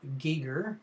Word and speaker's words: Giger: was designed conceptually by Swiss artist H R Giger as it's pronounced and full of lots of very disturbing